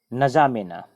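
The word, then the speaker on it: N'Djamena: है इसकी राजधानी है न जा में ना यहां पर डी साइलेंट होता है उसकी राजधानी बेनजामिन पूंजा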